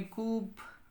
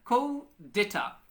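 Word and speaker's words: coup d'état: अच्छा, ये क्या है, हनीन खान ने कूप, ये डेटा कूप है ये कूप लफ्ज पहले लिखा करो। अच्छा, को डेटा, ये स्पेलिंग तो सही है लेकिन प्रोनाउंसिएशन फिर इसका अलग होता है।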